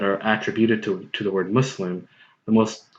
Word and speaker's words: Muslim: number one number two the sound us which is which is what you need to which is the something you need to produce when you pronounce the u.s. in mus l IM also exists in english look at the word was what is an english word it's not an arabic